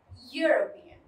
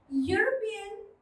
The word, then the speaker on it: European: But when we pronounce this word, it is pronounced as European. European is pronounced, which is having the sound of consonant, because ear is the sound of the consonant Y.